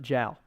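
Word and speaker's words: joule: anybody anywhere else in the world they will pronounce it gel really cuz it he was a French man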